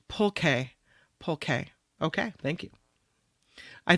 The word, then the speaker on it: pulque: It's pronounced pulque.